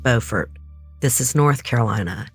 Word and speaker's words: Beaufort: am she was connected to an operator from Beaufort County Central Communications side note it is pronounced Beaufort this is North Carolina not South Carolina so